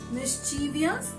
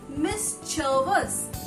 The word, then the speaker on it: mischievous: v o u s so how maximum people pronounce it as mischievous why because of its spelling when you make mistake mis as miss g-c-h-i-e that's why it's chi and via's v-i-o-u-s but my dear friend the correct pronunciation will be miss chervis miss jervis that is m-i-s-m c-h-u-s jump s-v-e-n okay